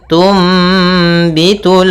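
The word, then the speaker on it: تُنْبِتُ: Kemudian tumbitul ardu pada lafal tumbitu di sini ada nun sukun bertemu dengan ba. Apabila ada nun sukun bertemu dengan huruf ba ya, maka kita namakan dengan iqlab, yaitu cara membacanya adalah suara nunnya diganti dengan suara mim.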